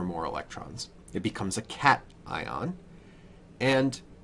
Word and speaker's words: cation: call this a cat now it's not called cation it's called cat ion